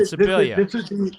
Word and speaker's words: Scibilia: and I was talking about you, and I pronounced your name right this time. That's great. So, Scibilia, hey, man. I got it down. Scibilia.